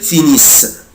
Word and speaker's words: finissent: il elle finissent mais je ne prononce pas ENT ومش بنطق ال ENT، بقولها كده finissent finissent. يبقى انا دلوقتي مش بنطق